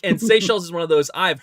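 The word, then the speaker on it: Seychelles: Oh the seell seells.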